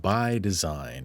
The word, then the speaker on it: BYDZYNE: that we're looking at is called by design and it captured my attention just on the pure way that it's spelled b y d z y and e right by design and